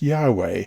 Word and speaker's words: Yahweh: capital w capital h y h w h pronounced yahweh and translated as lord in capitals in the